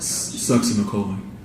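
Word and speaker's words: succinylcholine: And how do you pronounce it again? Sucks in a colon.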